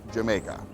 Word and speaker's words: Jamaica: The Dutch pronounced the letter J as a Y, so when the English saw the word spelt with a J, they assumed it was pronounced Jamaica.